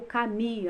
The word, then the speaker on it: Camus: sobre o livro de Albert Camus, né, ou Cami, a maioria das pessoas pronuncia dessa forma.